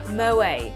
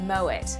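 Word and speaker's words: Moët: It's like that time she said moe instead of moet.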